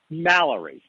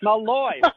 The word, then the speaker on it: Mallory: Mallory. And I think I just pronounced Malloy.